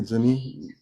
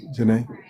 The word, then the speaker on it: Janae: Is it Janie or Jenny? How do you pronounce the Jane? Janae. Yeah, I've been pronouncing it Janae.